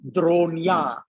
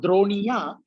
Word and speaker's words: Dronya: But if it is Droni with an E, the sound becomes half. So it becomes Dronya. Same concept. Instead of Droniya, you have to say it fast.